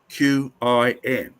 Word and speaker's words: Qin: from the state of Qin. Now, in case you've forgotten, from the state of Chin, pronounced Chin, from which we get Chinese.